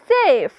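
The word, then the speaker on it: safe: ए की मात्रा लगाएंगे एफ के लिए फ और ई जो है ना यहां पे साइलेंट रहेगा ठीक है तो देखिए बन गया सेफ सेफ का मतलब होता है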